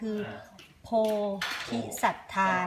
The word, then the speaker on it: โพธิศรัทธา: ชื่อ วัด นะ คะ ถ้า ออก เสียง ภาษา ไทย คือ โพธิสัทธา นะ คะ เหมือน ต้น โพธิ อะไร เหมือน ต้น โพธิ